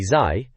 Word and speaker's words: Zai: Killer Instinct, which apparently Zai, pronounced Zai remember, thought was a bit harsh in the mag, but it gets in anyway, no objections.